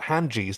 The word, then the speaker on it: Hynerian: Too late, Crichton recalled that Hanjis, that's how you pronounce it, Hanjis possess detachable eyeballs, ideal for spying on potential shoplifters, just like Mr.